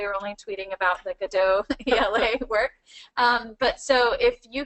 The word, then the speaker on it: GaDOE: Godot.